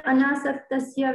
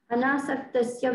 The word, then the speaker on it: Anasaktasya: Is that where Anasaktasya Vishayan Yatharam Upayunjataha Kam Guru Maharaj?